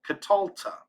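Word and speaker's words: קָטַלְתָּ: so for catal that would be catalta and actually we accent this syllable katalta we've added a silent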